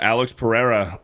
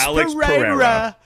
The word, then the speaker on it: Alex Pereira: Yeah, Alex Pereira this weekend. Hey, So- you have a Brazilian friend. You got to pronounce it correctly.